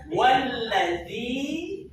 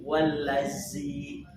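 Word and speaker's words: والذي: Walladzi, awas huruf dzal. Walladzi. Jangan ada huruf dal yang terkontaminasi dengan unsur hams. Kan banyak tuh wallazi.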